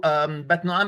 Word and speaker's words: Batnoam: So Bat Nu'am is the classical way of pronouncing it or reading it, but we suspect that it should be read as Biti Na'im. So bit, not bat, and Na'im.